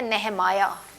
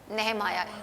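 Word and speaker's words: Nehemiah: हम उसको बोलते हैं नमाया इंग्लिश में वी कॉल इट नह माया ओके एजरा नह माया उर्दू में आप नेमिया बोलते हैं लेकिन इंग्लिश में यू प्रोनाउंस इट नेह माया आई ए एच के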